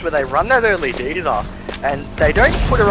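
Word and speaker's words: D.Va: Just a quick shout out to Jam Pulse, who thinks that Diva should actually be pronounced DVA. Oh, Matt Flacker said that first weekend, but got trade. So who knows? There's multiple ways of saying it now.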